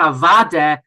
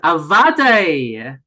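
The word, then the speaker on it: אַוודאי: I heard them say not avade, but avade. Because it's spelled avadai.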